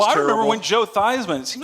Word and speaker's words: Theismann: I think I called him Theismann because that's his real name. Oh, get over He it. changed it to rhyme with Heisman.